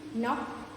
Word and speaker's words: knock: Next, silent K. Knee, knock and no. In these words, K is silent because we do not get the K sound of K in these words. The word begins with the N sound.